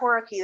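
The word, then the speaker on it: whorearchy: what what what hor horari is I still think I'm pronouncing it wrong no you are horari that's fine it's you're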